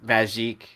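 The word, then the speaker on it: Magik: I was like, is it pronounced magic or magique? And then, and he actually responded with magique.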